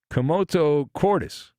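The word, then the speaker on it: commotio cordis: suffered from something called a komoto Cordis believe that's how it's pronounced so I probably butchered it what is that it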